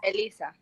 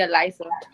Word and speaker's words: Elisa: I know, because in Spanish it's Elisa. Like, but in English, people call me Eliza.